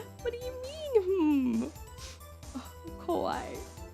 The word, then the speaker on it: kawaii: Oh, kawaii. I put emphasis on the first I.